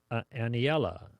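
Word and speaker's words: Aniela: from a 9-year-old Ana anela anela I'm not sure I get her right name right but anela if that's I'm just pronouncing all the Wows like Spanish pronunciation a n i e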